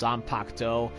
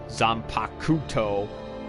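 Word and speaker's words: zanpakutō: i don't know there's there's like some japanese words where the first you is like silent like for example when you when you see in bleach how they pronounce their swords as zampacto but then you look at the actual spelling and there's that one first u right there and it makes it look like they're saying zampa kuto when they're not pronouncing it like that anyway the fort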